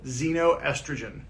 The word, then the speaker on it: xenoestrogen: right the technical term for this is x-e-n-o xenoestrogen so it's it's spelled with the x but it's pronounced like